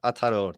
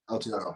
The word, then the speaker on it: Aotearoa: Yeah, Aotearoa. There we go. Aotearoa. So Aotearoa is in New Zealand. Nobody really says New Zealand. We say Aotearoa, which is the Māori name, the traditional name for New Zealand.